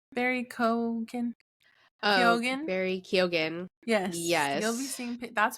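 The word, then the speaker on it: Keoghan: you say his name Barry Ken kogen Bar kogan yes you'll be seeing that's prediction you'll be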